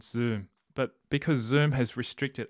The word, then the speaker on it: Xoom: Zoom, which is spelled XOOM.